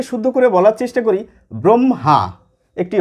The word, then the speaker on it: ব্রহ্মা: কথাবার্তায় করে থাকি ব্রহ্মা দুটি ম এসে যায় আমাদের উচ্চারণে হ টি আমাদের উচ্চারণে থাকেই না এবার অনেকে শুদ্ধ করে বলার চেষ্টা করি ব্রহ্মা একটি হ এসে যায় আবার অনেকে বলে থাকি ব্রহ্মা কিন্তু প্রমিত বা মান্যচলির